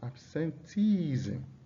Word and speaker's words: absenteeism: Absenteeism. You can see the stress is on the second to the last syllable.